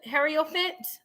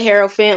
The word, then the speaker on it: Hierophant: Hood Harriofant? How do you say that? I don't want to mess your name up. It's Hood Hierophant, like the tarot card, the Hierophant card for the tarot.